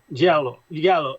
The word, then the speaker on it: Giallo: Giallo. No, perquè em sembla que es pronuncia Giallo. Vale. A l'italià no pronuncies la ella igual. És com Giallo. És una L geminada una mica, no?